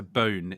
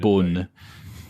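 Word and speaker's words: Beaune: having just been to bone in France uh couldn't be more of an English pronunciation bone B uh but um Wine's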